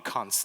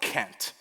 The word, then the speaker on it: Kant: how to pronounce Emmanuel kant's name it's not K which is what the pun is supposedly meant to be but it's Kant however and I apologize